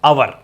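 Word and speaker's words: hour: है ये इसको ओवर बोलना ओवर बोलोगे तो गलत ही होगा कुछ तो पढ़ना सेशन ठीक कर लेना इसको बोलते हैं अवर ठीक है तो आर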